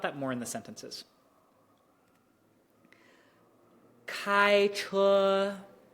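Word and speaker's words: 开车: It's flat the entire time. 开车. So if that sounds like it's doing something, just train your ear, be like, no, it's not. Reset my brain.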